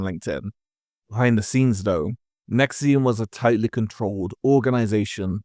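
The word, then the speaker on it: NXIVM: First, we have NXVM, pronounced Nexium.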